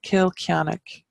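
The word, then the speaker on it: Cill Chainnigh: place was or became in later times so kill kianak is janux church and that's a the the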